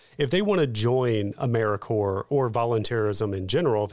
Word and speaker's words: AmeriCorps: So sometimes people say AmeriCorps. We don't do that, but it is AmeriCorps.gov.